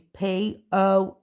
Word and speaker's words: Poynton: And my name, Poynton, is Poynton. Because it's spelled Boynton, Poon.